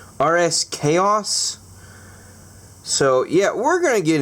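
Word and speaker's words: RSKAOS: want to call it I guess you're supposed to pronounce it RS chaos so yeah we're gonna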